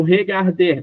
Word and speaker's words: regarde: Andress, o verbo regarder para mim. G regarde regarde. Aí como você não pode pronunciar o e, você vai acabar no D. E o som forte fica no garde.